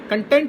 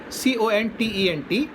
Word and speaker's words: content: So the accent shifts from first syllable to the second syllable. Please be content with your life. Content here means satisfaction. So for this word, C-O-N-T-E-N-T, when it is used